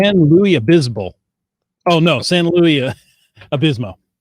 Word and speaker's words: San Luis Obispo: He planned and published an Adventure Lab in St. Louis Obispo which I probably just butchered, and I'm sorry about that. San Luis Obispo.